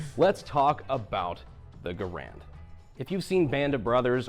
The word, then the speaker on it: Garand: instead an M1 Garand Mr Garand was very insistent that that was the way that you pronounce his name however is that true